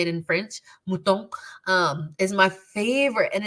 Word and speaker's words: mouton: Mouton is how you say it in French. Mouton is my favorite and it's everywhere.